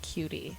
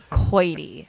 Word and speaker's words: Keute: So it's spelled Keute, and it's not cutie. Okay. So It's Keute.